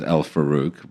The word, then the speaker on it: El-Farouk: So I pronounce my name as El-Farouk, but I think its proper pronunciation would be more like El-Farouk.